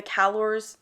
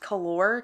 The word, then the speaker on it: Calore: example the callor sorry I call them callor the whole time I was reading it I called them callor and Victoria avart has said that it's pronounced calor so I'll try to pronounce it calor but if I slip and say calor it's not my fault each house has a